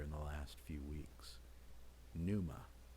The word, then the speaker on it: pneuma: the last few weeks pneuma with a silent p breath in some instances